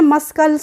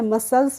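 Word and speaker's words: muscles: हमारी मांसपेशियां होती है उसे हम बोलते हैं मसल्स तो इसको हमने मस्कल तो नहीं पढ़ा है इसको हमने क्या पढ़ा है मसल्स पढ़ा है तो यहां पे हमने सी का प्रोनाउंस एशन अब आता है हमारा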